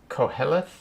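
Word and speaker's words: Qoheleth: himself that's for sure how do you pronounce q o h e l oh yeah uh i think it's co-helith or um yeah it's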